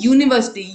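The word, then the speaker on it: university: फिर यहाँ पे है क्या है, यू है, ये वाउल है, लेकिन इसको प्रोनाउंस क्या करते हैं हम, यूनिवर्सिटी, य, ठीक है।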